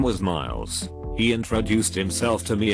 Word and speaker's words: Miles: dude whose name was Miles he introduced himself to me in front of a group of people saying hey my name is Miles but he pronounced it meals like it was two separate syllables I commented how I'd